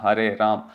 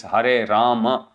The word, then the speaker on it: Hare Rama: Hare Rama, Hare Ram. Again, it's not Hare Ram. It's Hare Rama. Is soft, but you have to still say both the syllables clearly.